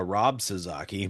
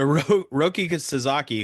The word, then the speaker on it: Roki Sasaki: really free agency, is who I like to call Rob Sasaki, but his name is not Rob. I just mispronounced or I said his name wrong last time on a podcast. So Roki Sasaki, who Yeah, Patrick, reading